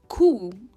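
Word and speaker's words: coup: इसका प्रोनाउंसिएशन कूप है। ये है खू। खू, इसमें जो पी है ये प्रोनाउंस नहीं होता है, खू।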